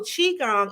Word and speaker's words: Qigong: it wrong okay yes so my mind always goes to cute so Qigong and the Tai Chi